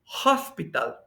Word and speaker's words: hospital: Ahora, hospital se escribe igual que en español, pero en inglés dice hospital. Hospital. Esa H no es muda porque está sonando como J.